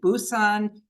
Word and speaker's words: Busan: And our troops were pushed back all the way to the South, where you see P-U-S-A-N, Pusan. We usually pronounce it Busan because of the Korean alphabet.